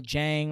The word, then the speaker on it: Jang: guys vitamin string quartet daniel jang or it's spelt uh j-a-n-g it might be yang um and those three